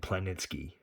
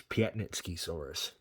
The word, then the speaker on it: Piatnitzkysaurus: and tonight I wanted to show you this Piet nitsky saurus that I fixed up yes I looked up how to pronounce it because at first I was pronouncing it planetsky but it's Piet nitsky Soros who the names these animals it ain't like